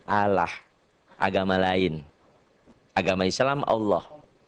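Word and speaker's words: الله: tipis atau kurus yaitu apabila lafadz Allah didahului oleh huruf yang berharakat di bawah kasrah mengucapkannya tipis sehingga tidak sampai memenuhi mulut ketika mengucapkannya dengan kata lain bunyinya a key saudara kita pengucapannya Allah agama lain agama Islam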